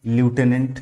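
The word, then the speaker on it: lieutenant: एल आई ई यू टी ई एल आई ई यू टी ई एन A anti लटिनेंट तो ये हमारा correct बन जाएगा answer ठीक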